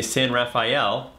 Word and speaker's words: San Rafael: And when like people pronounce like my town where I live in Marin, they say San Rafael. There's no E at the end.